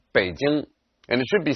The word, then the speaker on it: Beijing: popularized many years ago the city's name is pronounced Baden and it should be spelled in english with